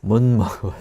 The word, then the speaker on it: 못 먹어요: So our pronunciation changes a little bit 네, because of the nasal consonant 네. that follows it. So 못 by itself has that DT ending, but when it's next to the M consonant, it becomes more of a 못 먹어요.